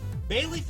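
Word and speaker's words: Bayleef: make it look beautiful bay leaf is actually spelled with two E I know it doesn't make sense but it's uh b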